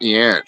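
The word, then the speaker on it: Jansch: dude was great Bert yanch Scottish English singer songwriter I don't know him he guitar Bert y it's spelled with a J but it's pronounced y oh where did Hebrew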